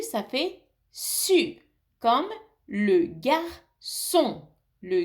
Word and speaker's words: garçon: Mais si le C a une cédille, un petit crochet en dessous, on le prononce S.